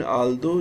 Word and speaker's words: although: In although, GH is silent.